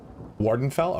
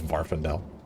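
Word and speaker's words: Morrowind: guy and he's like Wardenfell. Okay, thank you. I didn't know that's how pronounced. Thought it was Varendel. I like how I thought it was Varendel. Where's that second F coming from?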